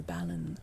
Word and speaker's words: Balin: Balin.